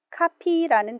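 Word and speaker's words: copy: 복사기 는 카피머신 입니다 카피 라는 단어 발음의 조심해야겠네요 조금전에 본 커피 메이커는 바른 말로 커피머신 이라고도 해요 커피 마시는 커피는 f 발음이 나지만 복사 하다 하는 카피는 p 발음이 나요 조심 하세요 그래서 이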